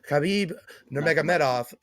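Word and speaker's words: Khabib Nurmagomedov: say it nanov well how you properly say it is khabib Nea Med off but how Joe Rogan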